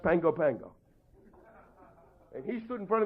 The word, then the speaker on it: Pago Pago: is PA GOP AGL you think it's pronounced Pago Pago it's actually pronounced Pango Pango and he's stood in